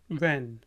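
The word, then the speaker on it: when: बोले हु आर यू कब व्हेन व्हेन व्हेन बोले व्हेन यहां पे भी देखें एच साइलेंट है तो ये वेन है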